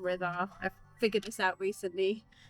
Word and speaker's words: Rida: Hello, I'm Rida, And you pronounce it like 'rhythm', so 'rhythm', 'Ritha'...